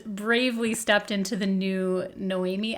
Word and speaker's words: Noémie: My name is Noemi, and it's spelled Noemie, because female names have a silent E at the end.